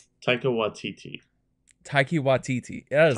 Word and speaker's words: Taika Waititi: Taiki Waititi? Is that how you pronounce his name?